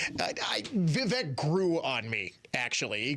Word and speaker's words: Vivek: Remember, he and Elon were going to co-run Doge, and Elon very quickly forced Vivek out. I guess, yes, Vivek, people are telling me. The correct pronunciation is Vivek.